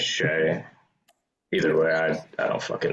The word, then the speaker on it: Shai: Saying it shy is nuts. How is it supposed to be pronounced? I think it's Shay.